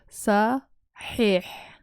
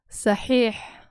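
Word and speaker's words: Saxiix: So there's two of them with a long I vowel here. So they're doubled to make it long. Sahih.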